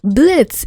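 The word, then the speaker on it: Blitzø: Cause since the beginning, since episode freaking 1, Blitzo, the O is silent, asshole! Blitz, whatever, has not had a win to save his life.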